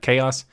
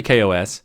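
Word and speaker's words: KaOS: at the video version you might look at it go isn't that chaos it's actually Kos that's how they pronounce it however I would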